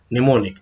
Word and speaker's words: mnemonic: तो अब देखते हैं कि ये क्या होती है कि to understand the burden of the programmer, निमोनिक, am silent है, निमोनिक operation code and symbolic address were developed during the early 1950।